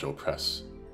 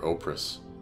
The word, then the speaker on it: Opress: Savage Opress I know they pronounce it like oh Savage Opress or opris to try and disguise it but you know like